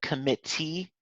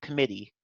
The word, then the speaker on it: committee: know that British a British English tends to you know with their teas they tend to actually pronounce them like tap them instead of flap them so instead of committee it would be like committee but in American English we wouldn't we wouldn't pronounce a tea like that it will just be like a flap so it would be committee but that's really all